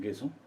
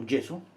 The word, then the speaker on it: gesso: I prepared the canvas just with 3 layers of gesso, or gesso, depends how you pronounce it.